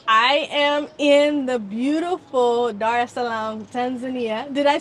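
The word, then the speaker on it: Dar es Salaam: with qu Essentials I am in the beautiful Dar Salam Tanzania did I say it correctly yes okay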